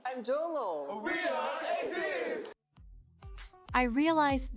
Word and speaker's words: Jongho: I'm Jongho.